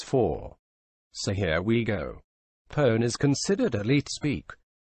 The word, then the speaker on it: pwn: known as session hijacking that term is called pone it is spelled pwn and it can be